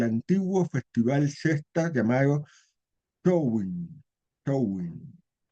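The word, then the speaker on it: Samhain: Showing, pronunciado así esa palabra Sam que dice Show, el Celta, ¿no?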